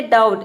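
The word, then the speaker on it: doubt: Next word है डाउट। यहाँ पे देखिए डाउट में ब का साउंड नहीं आ रहा है, यानी कि बी को हम प्रोनाउंस नहीं कर रहे।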